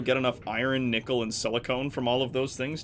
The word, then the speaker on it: silicon: Yes, I consistently pronounce silicon as silicone. Cause Drives me fucking nuts. just because Yeah, that's 'cause the it- way I heard it pronounced for the longest time. And he likes to No, annoy silicone- those sort of people. Silicone is something. That's just Silicon. not the thing.